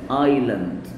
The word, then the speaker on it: island: Island الاسم مش هتتنطق. جزيرة. Island.